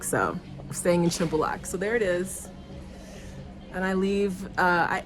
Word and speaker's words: Shymbulak: resort of shambalak it's spelled shambulak but it's pronounced symbolak so staying in shimbalak so there it is and I leave uh